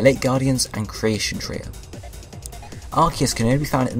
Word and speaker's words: Arceus: different pronunciations the announcer of Pokemon Battle Revolution pronounced it arus a promotional trailer for archus and the Jewel of Life Ed pronunciation arus in the final release of archus in the